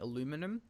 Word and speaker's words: aluminum: of Off-World Trading Company, I started saying aluminum, which is the American pronunciation, because it's just easier to say than aluminium.